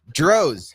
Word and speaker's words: Droz: Hey, you pronounce it Drots? Droz. Rhymes with Rose.